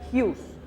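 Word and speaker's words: Giús: reírse tenía una firma, y la firma era Hughes. Sí, G-I-U-S, que era una castellanización de mi primer apellido, que se escribe Hugues, Hughes.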